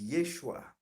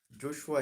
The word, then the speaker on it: Yeshua: know his name is yeshua or joshua joshua is like greek pronunciation yeshua is like the original aramaic pronunciation yeshua or yehoshua that's what his name is but when he died